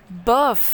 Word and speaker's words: bof: Bof. Bœuf, oui. Bof, oh. Bof, oui. Oh, c'est O? Oui, c'est un O, mais la prononciation c'est O, pas E.